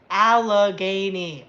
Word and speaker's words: Allegheny: lot of fun okay dan says it's pronounced allegheny all right alani oh come on ah